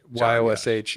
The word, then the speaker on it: Jaszcz: Really, you can just find it with YOSH. YOSH, even though it's spelled JASZCZ.